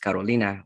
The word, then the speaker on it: Carolina: It was actually pronounced Carolina, which sounds gorgeous, beautiful in Spanish.